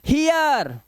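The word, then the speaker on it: hear: गया क्लियर ई आया हियर ठीक है अब इसे हीर नहीं पढ़ेंगे हीर क्योंकि ई ए का उच्चारण ई ही होता है लेकिन जब इसके बाद आर आ जाए तो इय और यही होते हैं इंग्लिश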